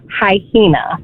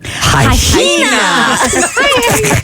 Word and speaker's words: hyena: For 38 years, he pronounced the word hyena as hyena. Hyena. Put an extra H in there.